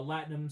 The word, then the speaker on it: latinum: Star Trek currency uh latinum spelled like Platinum without the p you can get gonna